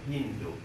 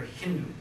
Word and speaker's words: Hindu: India about 1000 A.D in their language they pronounce s as you know H son so they call that River Hindu and the line Beyond Hindustan and the called the Hindus so this is how